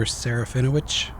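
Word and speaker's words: Serafinowicz: in movies they do later like uh Peter sareno that's how you say his name Peter sarino um he's in there um so there's an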